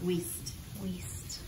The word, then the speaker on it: Wiest: Wiest.